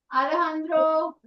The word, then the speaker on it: Alejandro: Alejandro. This is a Spanish pronunciation. So for them it's Alejandro. Alejandro. They never say Alejandro.